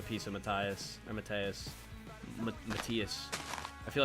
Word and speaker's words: Matthias: Matthias. I feel like people have pronounced it so many ways. I'm pretty sure it's Matthias, though.